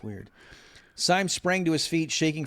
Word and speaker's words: Syme: So I thought this was interesting that, let's see, Sim sprang to his, how do you pronounce his name? Is it Syme or Sim? It's Syme.